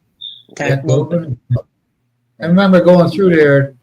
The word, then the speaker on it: Tacloban: Well, Tagleman? Yeah, actually, say my girlfriend corrected my pronunciation of it. It's Tucklobin. What is it? Tucklobin.